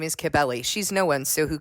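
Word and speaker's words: Cybele: was referring to it as the cult of sibel because that's kind of how it's spelled so I'm sorry about that if if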